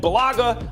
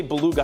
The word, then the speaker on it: Balaga: You know, and Balaga, I always say Beluga, I always mispronounce his name, Balaga, but he can't stay on the field.